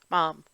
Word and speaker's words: ma'am: Yes, but it'd be pronounced Mom.